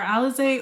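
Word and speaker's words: Alizee: For Alize, Omar chose her name. I know, and I always get that question. Alize like the liquor?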